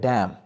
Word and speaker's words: damn: जी, तो अगर बढ़ें एग्जाम्पल्स की तरफ तो है डैम। DAMN, डैम, इसका मतलब होता है लानत। तो हम इसको डैमन नहीं पढ़ते, हम इसको पढ़ते हैं डैम।